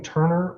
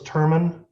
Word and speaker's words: Turman: I saw that this this last name Turner or Thurman Thurman and how's that him spell it okay it's showing up as Turner I'm not sure why okay so it's terman yes all right uh Mr terman